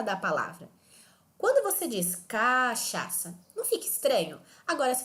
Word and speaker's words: cachaça: vamos ver alguns exemplos por exemplo a palavra cachaça nós não falamos cachaça nem cachaça nós falamos cachaça então então quando eu